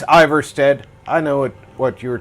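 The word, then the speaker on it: Ivarstead: Invad 3 RDIZ said, "For some reason Ivory Stead is one of my fave villages." Invad 3 RDIZ said, "I said the name wrong but..."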